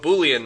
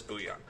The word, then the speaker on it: Boolean: Does anybody know what boolean means? Goes through. Exactly. Right. And it's not like the soup ingredient. Boolean. Oh, that's booion.